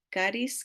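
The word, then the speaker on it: χάρις: palabra caris en español La vemos como charis pero explicamos verdad que se pronuncia caris como carismático o carisma de ahí sale esa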